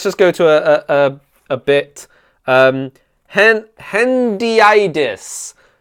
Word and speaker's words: hendiadys: Hendiadys, pronounced hendiadys.